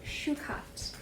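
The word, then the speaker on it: shukaat: Deer is spelled D-E-E-R. And then in the Tongva language, deer is shukat.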